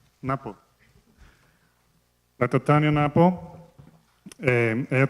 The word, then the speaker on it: Ngapo: Ngapo is the correct pronunciation? Napo.